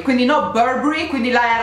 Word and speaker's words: Burberry: Andiamo a vedere, ok, più o meno ero sulla linea d'onda corretta, si pronuncia Burberry, quindi no Burberry, quindi la R no, Burberry, quindi Burberry no,